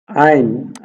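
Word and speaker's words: ع: আইন, আইনও হলকের মধ্যখান থেকে চিপা দিয়ে উচ্চারণ হবে আইন দুই পেশ উন, আইন দুই পেশ উন, আইন দুই পেশ উন।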